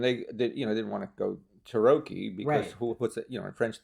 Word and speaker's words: Tarocchi: No, see, the real name of the deck is Tarocchi. Tarocchi in Italian, but everybody's mispronouncing that.